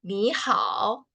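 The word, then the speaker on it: 你好: Anda, kalian bisa mengatakan ni hao. Nah, ini nada ketiga ya. Jadi pelafalannya itu agak rendah.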